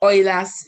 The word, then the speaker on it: Euler: up with a formula which they call the oil as formula yeah it's spelled eula but it's pronounced oila yeah as